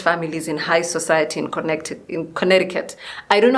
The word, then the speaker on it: Connecticut: If I read it, it's Connecticut, so I don't understand why Americans say Connecticut, because that just doesn't make sense to me.